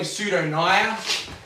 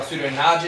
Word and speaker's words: Pseudonaja: But so, as I said, the Dugite is in the brown snake family, Pseudonaya, or Pseudonaja, depending on how you want to pronounce it, which literally means false cobra, which is kind of silly.